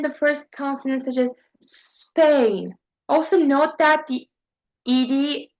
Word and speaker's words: Spain: they often insert an extra vo such as I mentioned saying es Spain instead of Spain similar to espana in Spanish.